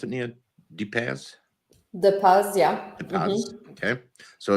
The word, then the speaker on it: Depaz: So this is how do you pronounce it, Nia? DePaz? DePaz, yeah.